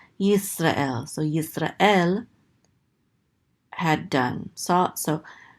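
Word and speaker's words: ישראל: So this is going to be yis. And this is a resh with a kamat, so this is ra. And this is an aleph with a tzere, this is and this lamed closes out the syllable to say el, Yisrael.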